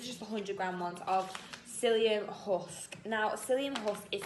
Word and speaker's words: psyllium: So people who struggle with like bloating, pain, anything through your bowels, psyllium husk is really good. It's spelled with a P, so if you type it on the website, it's PSYLLIUM.